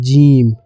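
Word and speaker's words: جيم: হলে ভুল হয়ে যাবে সর্বপ্রথমে এক নম্বর হচ্ছে জিম এক নম্বর হচ্ছে জিম আর দুই নম্বর হচ্ছে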